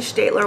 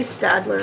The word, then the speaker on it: Staedtler: I've always liked fineliners strictly state ler ones I know people say Stadler start my mom speaks German so I learned how to say it properly you could ask her